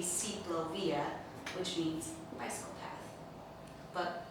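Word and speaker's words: ciclovía: But the actual word comes from Bogota, Colombia, and it should be an I instead of a Y. It should be Ciclovia, which means bicycle path.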